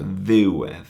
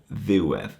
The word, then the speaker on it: ddiwedd: So ddiwedd, you can hear ddiwedd. The accent is on the ddiw, and the edd kind of just is the second part of the word.